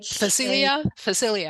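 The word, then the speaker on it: Phacelia: And one other question, and I can't remember how you pronounced it, that cover crop, cilia, the PHA. Facilia, Yeah.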